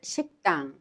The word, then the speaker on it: 식당: 식당 is also pronounced 식당 in the same way.